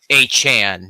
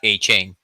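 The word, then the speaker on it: Achane: Mostert, it's supposed to be Devon A-Chan, not A-Chain.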